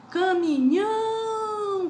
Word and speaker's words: caminhão: Caminhão, com a sílaba mais forte, nhão, que é a última.